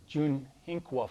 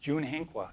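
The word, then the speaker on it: Tsyunhehkwa: up here it says Junhinqua Farm. It's spelled T-S-Y-U, and that's part of that Oneida spelling where T-S-Y is a J sound. So that's pronounced Junhinqua, and that's open to the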